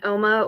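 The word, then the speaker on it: Ooma: I think it's called I think you pronounce it like Oma it's o-o-m-a it's an internet based um provider and people were anybody that was on Oma was trying to call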